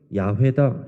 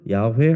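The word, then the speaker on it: 야훼: 여호와 그게 하나님의 이름이에요 그 히브리 사람들이 습관적으로 모음을 쓰지 않기 때문에 후대에는 그것을 정확한 발음이 야외다 이렇게 학자들이 얘기합니다 그래서 우리 여호와 하나님이라고 우리 일반적으로 말하고 또 학자들 중심으로는 야회 하나님이라고 이렇게 표현하기도 해요 그 야외 하나님 여호와 하나님의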